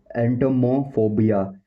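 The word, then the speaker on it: entomophobia: इस और इसका जो प्रोनाउंसिएशन है वो है एंटोमोफोबिया, एंटोमोफोबिया, एंटोमोफोबिया, एंटोमोफोबिया, एंटोमोफोबिया, एंटोमोफोबिया, एंटोमोफोबिया, एंटोमोफोबिया, एंटोमोफोबिया, एंटोमोफोबिया।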